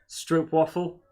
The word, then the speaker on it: Stroopwafel: Apparently it's a long O, not an O. So it's a Stroop. Did someone confirm that in chat? Waffle. Or is that just your theory? It's pronounced like soap. The double O and Strope. a stroke soup. waffle. Double O like soup.